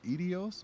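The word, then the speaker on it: Eidos: don't even know how to say the word edios or idos idos oh idos yeah yeah and I'm like I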